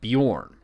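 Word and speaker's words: Beorn: on the other hand doesn't have that e with the two dots above it and it's pronounced like I've been saying it born it's actually an Old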